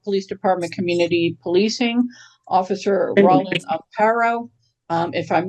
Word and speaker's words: Rawlin Amparo: Um, our first guest speaker is from the Noak Police Department, Community Policing, Officer Roland Aaro. Um, if I'm mispronouncing your name, please correct me.